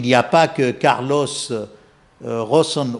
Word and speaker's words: Ghosn: Vous voyez, il n'y a pas que Carlos Rosson ou Ghosn, comme on prononce à la française, qui soit de renommée internationale, qui dirige, n'est-ce pas, Renault et Nissan.